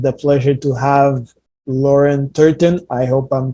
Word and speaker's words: Turton: and I have the pleasure to have Lauren turton I hope I'm pronouncing the name right you are that is